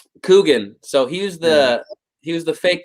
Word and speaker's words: Coogan: It's got Steve Coogan. Is that how you say it? Yeah. Coogan? Coogan.